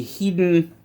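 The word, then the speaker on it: Heddon: fishing lures patterned after the hidden or hedon however you prefer to pronounce it i'm doesn't matter to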